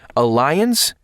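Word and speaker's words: Allianz: way to do this Alliance Global assistance now Alliance is is spelled a l l i a n z Global assistance sure bonsa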